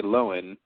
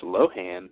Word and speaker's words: Lohan: for making sure people say her name correctly so go off into the world and say lowen and then when people say it's low hand tell them you heard